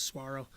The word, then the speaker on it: saguaro: learn I'll learn there it's it's spelled saguara but I think it's Saguaro the cactuses they look